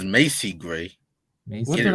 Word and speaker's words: Macy: Yeah, first of all, it's Macy Gray. Macy? What Get did it I right. say? I You said always Marcy pronounce her Gray.